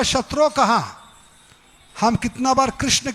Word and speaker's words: कृष्ण: कृष्णा नाम द्रौपदी का है, कृष्णा मत कहिए, कृष्ण कहिए। क्या कहिए? कृष्ण।